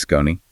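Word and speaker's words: Skoni: That's S K O N I pronounced Scon.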